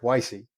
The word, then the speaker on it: Weisi: very it's very different I have some friends who would pronounce that W with a V and some friends who would pronounce that W as a w so I appreciate your